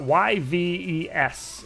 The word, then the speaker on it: Yves: saying it wrong it's he's french it's a y-v-e-s is his name and i swear i've heard him say it yves um but hey everybody's